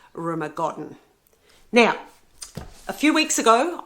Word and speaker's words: Rumer Godden: And I do recommend Rumer Godden, or some people pronounce it Rumer Gordon. However you pronounce it, that's up to you. But I really do prefer, and I think it is Rumer Godden.